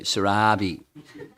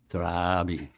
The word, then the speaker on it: Surabhi: But in China, they all say Surabhi. I blast them when they do that. Say it properly. Surabhi.